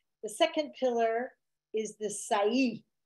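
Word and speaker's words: Sa'i: second pillar is the Sai spelled s a long I say which is the right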